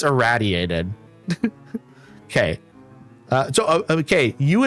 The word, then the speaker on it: irraddyated: People will say my name like uh irritated. I've heard irritated. I've heard my name said in various different ways, but it's idiated.